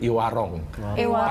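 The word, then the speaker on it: e-Warong: Jadi kalau yang model kita ini, Iwarung ini, sebetulnya bukan Iwarung. Bacanya Iwarung, tapi tulisannya yang baru tuh Iwarong. Pakai O, karena itu singkatan dari elektronik warung gotong royong.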